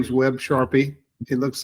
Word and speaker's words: Charpia: having me um so my name is web Sharpie it looks like Sharia but it's pronounced Sharpie and um the uh my law partner Roman